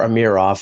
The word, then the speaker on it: Amirov: Well, I think Leaf fans who were critiquing the first-round pick of Rodion Amirov, or Amirov, I've been told that's the proper pronunciation, have to be pleasantly